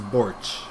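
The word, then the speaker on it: Borġ: um is it's Malta it's borch uh it's b o r g and the g has a DOT on it that's a mes surname so Borg we would spell borch or pronounce borch which is multi version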